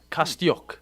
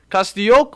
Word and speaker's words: Kostyuk: But Ukrainian tennis star Marta Kostyuk, that's her name, Kostyuk, I'm going to say it like that, okay?